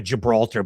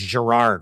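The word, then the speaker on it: Girard: I keep calling him a Gibralar, but it's Gerard, right?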